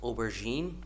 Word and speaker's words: aubergine: See, the word aubergine, the first one, it's pronounced as aubergine.